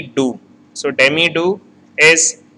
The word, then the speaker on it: doux: Here X word is silent, so it is demi doux.